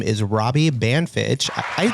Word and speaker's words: Banfitch: His name is Robbie Banfitch. I pronounced that right?